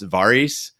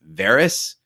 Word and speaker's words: Varys: writing in about the way I pronounce varis because it's Varys in the show but again I get